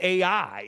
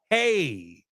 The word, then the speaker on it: Ai: how you pronounce this AI is not called AI it's called hey and that word when